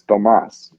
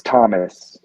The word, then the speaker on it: Tomas: my name is Tomas, because the Spanish version of Tomas is spelled without the H. But a lot of times when I show people that aren't Spanish tongue, they think it's Thomas the way it's spelled.